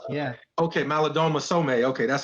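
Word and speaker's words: Malidoma Somé: I mean, is it Maladome Some? Is that how you say it? Malidoma Some, yeah. Okay, Malidoma Some.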